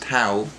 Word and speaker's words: Tau: the 41 minute 48 second mark so it's pronounced towel I paved how towel is essentially the artificial